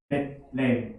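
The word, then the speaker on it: בית לחם: 우리가 베들레헴이라고 읽지만 사실은 벳렘이에요. 벳렘.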